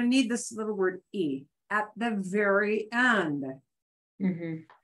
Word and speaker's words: y: We don't say y, because that's really just the name of the letter, right? We just say e. It sounds like the letter I almost.